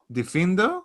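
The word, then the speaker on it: Diffindo: move to the next spell uh which is difindo is that how you say it yes and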